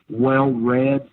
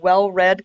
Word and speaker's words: Well Read: It's called Well Read Comedy, and it's spelled R-E-D. It's like Well Redneck. It's a pun.